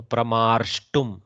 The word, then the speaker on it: प्रमार्ष्टुम्: And then dhairya vrittehe as is na shakyate dhairya gunah pramarshtum. See, there is a repa, so pramarshtum. So remember to pronounce the repa.